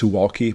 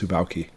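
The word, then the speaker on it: Suwałki: suaki corridor I know it looks like it pronounced suuki but it's actually pronounced suaki and more specifically we're talking about the Polish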